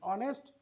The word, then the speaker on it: honest: under all these circumstance what do we find we find that this letter here is silent it is r it is honored it is honest it is honorable under